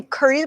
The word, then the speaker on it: courteous: Courteous is spelled kind of weird. Courteous, but it's spelled like this. Courtesy. Court. Yes, it's the manners. It's the manners that you would practice at court.